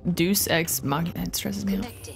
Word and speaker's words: Deus: Deus like deity.